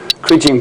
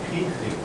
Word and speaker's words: kriging: The English verb is to kridge, and the most common noun is kridging. Both are pronounced with a hard G. I thought in French, Hans, they're pronounced with a soft G, kridgeage.